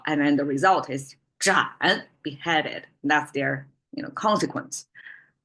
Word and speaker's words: 斩: then the result is 斩, beheaded. That's their consequence. 斩草, 斩草, 斩草除根. Okay. The reason why it's kind of a tongue twister for me because 斩 is ZH. We have to curl of tongue.